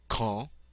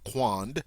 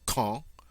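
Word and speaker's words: quand: French word for when K notice not Quang but K and then the French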